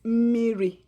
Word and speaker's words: mmiri: Igbo word for today is mmiri.